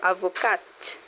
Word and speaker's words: avocat: is actually the same name we use for avocado in French too. Avoca, a lawyer or barister. If it's a female, you add e at the end. So, avocat pronounce it.